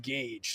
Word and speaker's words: Gage: I had to check the proper pronunciation before the chat starts to fry me from the way I pronounced it. It is pronounced Gage.